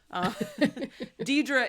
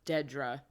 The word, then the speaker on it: Dedra: Deidre is just, I know her name is pronounced Dedra, but Deidre just comes out, so don't kill me, Dedra.